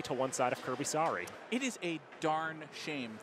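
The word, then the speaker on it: Saari: Kirby Sari, I don't know if it's obvious to the people how his name is spelled. His last name sounds like an apology.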